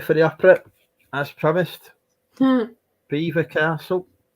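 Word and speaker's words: Belvoir Castle: Beaver Castle. People still call it Belvoir, don't they? But it's Beaver, isn't it? If I remember correctly. Yeah, it's spelt Belvoir, but I think I don't know.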